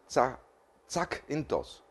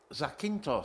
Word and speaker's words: Zakynthos: How do you pronounce this? This should be Zakynthos. Zakynthos.